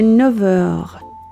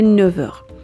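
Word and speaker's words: neuf heures: 5 heures, il est 9 heures. یه نکته، 9 و مشتقات 9 اگر به حروف صدادار یا به اش موئه برسن F se prononce V. به این ترتیب ما میگیم il est 9 heures.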